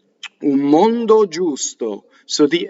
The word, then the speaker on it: giusto: So when you go faster in singing, you're always keeping the U longer, right? G-I-U is Jew, right? Which is also the word for get down, right? Jew, right? Or down, right? Giusto, meaning just or equal, right? Giusto. Now, to make it hard, you'd have to have G-H-I, right? Would make it gi, right?